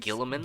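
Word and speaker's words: Guilliman: Gilliman?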